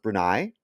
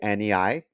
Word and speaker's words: Brunei: This country is called I think it's pronounced Brunei. Okay. Brunei.